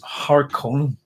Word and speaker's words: Harkonnen: Harkonnen, as far as I know, has got two umlauts and their direction within language. So it's Harkonnen, as far as I'm concerned. And that's because of the umlauts. They give direction on how to pronounce a word.